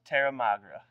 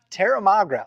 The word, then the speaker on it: Terramagra: How do you pronounce that again, bro? Terramagra. Terramagra.